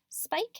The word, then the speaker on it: spike: followed by a consonant remember we have that silent e this follows our pattern of the long vowel silent e vowel consonant e spike is spelled SP